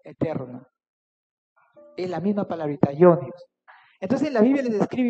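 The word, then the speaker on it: αἰώνιος: Y en el griego original, esa palabra que dice ahí, eterno, viene de una palabrita que se pronuncia así, aionios.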